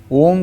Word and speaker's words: ओम: ओम का उच्चारण करते समय अ यह ध्वनि पेट और छाती में गूंजती है। उ ध्वनि गले और गर्दन तक जाती है। म धन ध्वनि सिर और मस्तिष्क में कंपन फैलाती है।